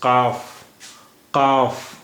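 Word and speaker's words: قاف: The 27th letter of Urdu alphabet is qaaf. It sounds like when you try to pronounce ka at the back of the throat, then the sound is qa.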